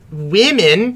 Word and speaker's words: women: If you say women... Women. Women. It's woman. It's women. Women. Women. Oh, it is women, isn't it? It's women. Yeah, it is with an I.